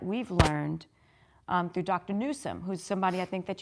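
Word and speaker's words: Nuzum: is something that we've learned um through Dr Newsom who's somebody I think that you should follow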